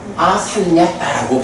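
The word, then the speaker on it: asaṃyata: 근데 상야따, 아상야따라고 하는 게 요 부분이 연음이 되면서 아상야따라고 발음이 되는 거야.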